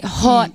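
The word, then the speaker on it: haute: Because perfect because it's spelled a h a u t. You say hot mess as in hot co hot mess.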